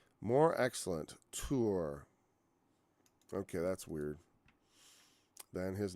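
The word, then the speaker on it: תור: at tour, which weirdly, and it's pronounced tour, and like our English word tour, it kind of means to explore, to seek out, spy out, explore.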